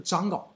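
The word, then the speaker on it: Django: 的咱们就直接读章稿啊，章稿，蟑螂的章，是吧？你可以这么发音啊，章稿啊，章稿。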